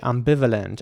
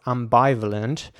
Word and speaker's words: ambivalent: b i v a l e n t ambivalent and again it's I want to highlight the eye right here because it's not pronounced ambivalent it's pronounced ambivalent and that means having mixed feelings or contradictory